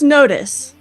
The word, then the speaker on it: notice: So yeah, I saw that message and I wanted to ask you Tron Barbie please teach Flo how to pronounce notice. Please please please. Well, it's notice.